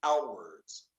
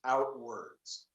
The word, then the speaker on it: Outwords: We've captured 133 interviews, and I should mention out loud, of course, that the project behind the book is called Outwards, and that's spelled OUTWORDS, Outwards.